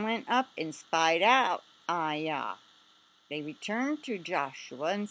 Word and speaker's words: Ai: Aya. Aya. Aya. Okay, so Joshua sent men from Jericho to Ayah, which is near Beth Aven, east of Bethel,